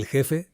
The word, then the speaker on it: jefe: El jefe, el jefe, তো দুটো শব্দ আমি কিন্তু প্লে করলাম, এল খেফে। el jefe, el jefe, তো প্রথম যে প্রোনাউন্সিয়েশনটা সেটা কিন্তু কাস্তিলিয়ান, আর সেকেন্ডটা হচ্ছে লাতিন আমেরিকান মেক্সিকান।